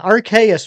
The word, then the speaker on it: Arceus: Yeah, Arceus makes the most sense to me. So it rhymes with Deus, the Latin word for God. Thank you to whoever just subscribed.